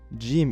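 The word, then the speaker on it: جيم: a sun consonant however in Egypt Jim is pronounced with the back of the tongue g g notice how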